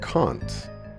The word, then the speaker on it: Kant: let us begin then can't is pronounced kant by convict okay uh